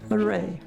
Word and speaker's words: LaRae: do you say your name I said lay Laray okay and what is your sign lay and